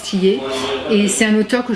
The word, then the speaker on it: Thilliez: style is mais bon apparemment ça se prononce tillé et c'est un auteur